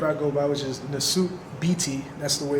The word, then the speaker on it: Nesut Biti: Okay, so this is the name that I go by, which is Nesut Biti. That's the way it's pronounced, Nesut Biti.